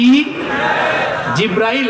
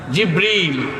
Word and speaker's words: জিবরীল: সেই ফেরেশতার নাম কি জিব্রাইল জিব্রাইল না জিবরীল জিবরীল একটু সঠিক প্রোনাউন্সিয়েশনটা আপনারা শিখে যান ওই ফেরেশতার নাম হচ্ছে জিবরীল ফেরেশতার নামটা কি জিবরীল